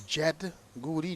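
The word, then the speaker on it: Jyd Goodey: And we are told that the pronunciation is Jed Goody, J-Y-D. Teachers would argue that Y doesn't give you an eh sound, but well, it doesn't matter about the doesn't matter.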